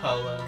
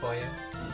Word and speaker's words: pollo: Polo instead of pollo.